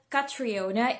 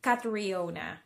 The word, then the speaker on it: Catriona: Kumbaga, Cat, yung C-A-T, as one syllable, and then re, R-E-E, as another syllable. So, hindi daw Catriona, it's Catriona.